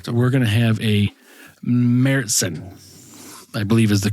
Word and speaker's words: Märzen: It is MARE Märzen is the correct pronunciation.